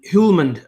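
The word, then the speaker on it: Hjulmand: that name hman hman I think it's a silent h um hulman uh silent J sorry everyone keeps going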